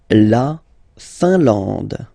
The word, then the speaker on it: Finlande: La Finlande. I-N here, nasal, un. A-N, nasal, en. And then D, final E, not pronounced.